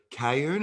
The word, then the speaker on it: Cayoun: Cayoun.